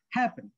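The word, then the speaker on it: happen: উচ্চারণটা হচ্ছে না, হ্যাপেন, এটা হচ্ছে হ্যাপেন, যে আমি সঠিকভাবে উচ্চারণ করতে চাই হ্যাপেন, তাহলে এইটা উচ্চারণটা হাই হচ্ছে এবং লং হচ্ছে। আর এই লাস্টের সিবিসিটার উচ্চারণটা লো হচ্ছে এবং শর্ট হচ্ছে, তখন ডাবল করার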